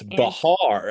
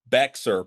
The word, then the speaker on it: Bexar: It's Bahar. I was just there. Oh, Bahar. Okay, I didn't know how to say it. We did a tour we did the river tour, and you can see the courthouse. And the riverboat guide said, if you call it Bexar, people will know you're not from here.